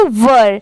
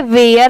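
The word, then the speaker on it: were: ई इसे हम पढ़ेंगे वर बहुत सारे लोग इसे गलत प्रोनाउंस करते हैं इसे वेयर पढ़ते हैं बट नहीं इसकी प्रोनंसिएशन है वर वर ठीक है वर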